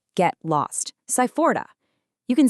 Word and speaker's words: sai fora: Moving on to our next boundary setter, we've got sai fora, pronounced sai-fo-ra.